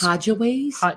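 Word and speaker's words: Hajj Ways: Ho- So he's Hodgeways, So he spelled it HAJ J space WAYS. So Hodgeways, Hodgeways.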